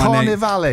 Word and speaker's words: Carnivali: I love how you mispronounce my Carnivali.